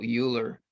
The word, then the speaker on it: Euler: Yeah, but man sagt Euler, if that's a umlaut, but it's not written with an umlaut, it's written with an E. So Euler is a good way to pronounce it. And we're English, so we